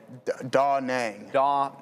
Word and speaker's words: Da Nang: Da Nang.